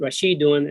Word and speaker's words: Rashidun: The Tama Buddha indicate that by taking the word Rashidun and add the Tama Buddha, that makes it female. So how do you pronounce Rashidun? Because you rest on the last letter, you say Rashid.